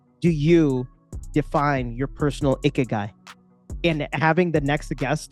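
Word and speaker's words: ikigai: that means to them how do you pronounce with m i guy right yeah i k i g a i i k i g a i okay guy all right we'll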